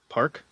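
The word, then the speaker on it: PARQ: How' you pronounce it? P. Park.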